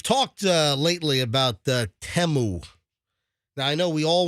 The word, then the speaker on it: Temu: So, if you have the Teu app, Teu, it's pronounced Teu.